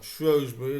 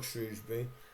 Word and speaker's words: Shrewsbury: If you look at Shrosbury Town next, or Shrosbury as I say, um you say Shrosby or Shrewsbury, but I I'll say it right for the Shrews in this occasion.